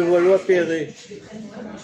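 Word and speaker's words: Levallois-Perret: Comment on dit le Valois-Perret? Comment on le prononce?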